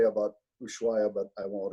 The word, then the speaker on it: Ushuaia: How do you pronounce it? Ushuaia.